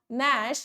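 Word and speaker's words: gnash: अच्छा हाँ, ग्लोवर, नॉ, नैश या ग्रिंड। एक तो मुझे समझ नहीं आता ये अंग्रेजों का, ये करते क्या है, जब इनको जी प्रोनाउंस ही नहीं करना था तो जी लगाया क्यों।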